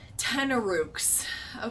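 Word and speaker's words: tanarukk: say 10 ropes t a n a r-u-k 10 Rooks I'm gonna yeah cause uh what is this six 16 to him the ten Rook yes yes okay so first one takes 12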